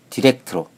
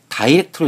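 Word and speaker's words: direct: I를 모음 I로 발음하면 다이렉트로 읽을 수 있습니다. 그럼 D-I-R-E-C-T라는 단어는 다이렉트로 읽는 것이 맞을까요? 디렉트로 읽는 것이 맞을까요? 결론은 둘 다 맞습니다. 단어가 동사로 사용되면 디렉트가 맞고 형용사나 영국식 발음으로는 다이렉트가 맞습니다.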